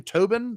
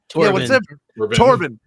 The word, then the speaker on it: Torbin: choking out um uh to what's his name Tobin did I say it wrong yeah torbin yeah check about she she did something into